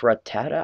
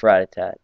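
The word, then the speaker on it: Rattata: uh uh anime so I'm just going to call it ratat even though it's not spelled that way radatat unless it's pronounced ratata I don't know I can't remember I'm pretty sure it's Ratatat that's what I've always called it anyway Ratatat there we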